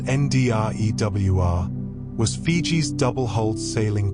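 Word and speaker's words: drua: The Druer pronounced NDWR was Fiji's double hold sailing canoe and it represents the pinnacle of Pacific maritime engineering.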